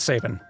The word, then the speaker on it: Sabin: just asked him he says it's saving okay actually no what he says is like he'd be the first person to say he does not own these characters and that if whatever pronunciation you hear in an official squarex release in the future that's Canon that's correct like he's not the authority but he considers it saving and that is as